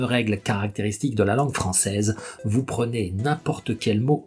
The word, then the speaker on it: français: français, vous voyez que la combinaison des 2 lettres AI fait le son est. Et donc, clairement, c'est un son qui sonne, ce n'est pas un son muet. Vous dites quelque chose de concret qui est, et donc vous allez mettre l'accent tonique à la fin. Vous dites français.